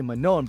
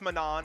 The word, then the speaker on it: Manon: so for me like others say yeah it's Manan and I'm like no it's mano but yeah manol is